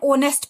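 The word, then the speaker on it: honest: दूसरी एग्जाम्पल है एन ऑनेस्ट person. यहाँ पर भी एच क्या है? हिडन है, साइलेंट है, ऑनेस्ट, ओ की वॉइस निकल रही है।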